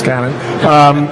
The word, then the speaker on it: Canon: You said it right this time, right? Yes, it's Canon.